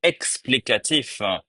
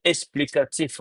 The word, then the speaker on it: explicatif: c'est la bonne prononciation explicatif avec un X et explicatif on prononce le X comme S pour faciliter la prononciation du mot explicatif et c'est les les